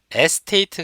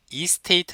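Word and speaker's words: estate: 에는 부동산중개 선대 여러분 이걸 영어로 리얼 에스테이트 가 아니고 요 위에 이스테이트 라고 발음합니다 여러분 되니까 위에 esta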